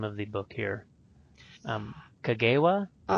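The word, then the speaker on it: Cogewea: And how do you pronounce the name of the book here? Kagewa? Katsuya.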